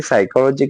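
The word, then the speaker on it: psychology: पर मजेदार क्विज तब आएगा जब पता चलेगा कि साइकोलॉजी की स्पेलिंग तो पी से शुरू होती है।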